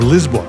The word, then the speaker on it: Lisboa: This is actually our second time in Lisbon, or Lisbon as it's pronounced in Portuguese.